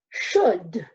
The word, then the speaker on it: should: octopus you from brother this word says should this L is silent it doesn't make any sound otherwise I would say trolled what we say should well I know I